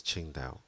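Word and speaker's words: Qingdao: So one example I use often is ching dao when it's spelled with a Q.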